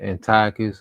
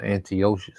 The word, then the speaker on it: Antiochus: No, it say people pronouncing either Antiochus or Antio, you know.